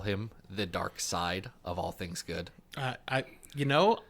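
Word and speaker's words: Darkseid: words is it pronounced is it pronounced dark side or dark seed dark side is yeah got it Adam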